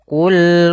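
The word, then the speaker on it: قل: Qul qof-nya tebal. Ini hati-hati jangan terbaca dengan kaf. Jangan qul hua. Qul hua. Ini kaf dia harus qof ya.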